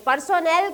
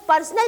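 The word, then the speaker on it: personnel: पर्सोनल का मतलब होता है, ये कई बार बच्चे जो है इसे पर्सनल प्रोनाउंस करते हैं, it's pronunciation is पर्सोनल। पर्सोनल का मतलब होता है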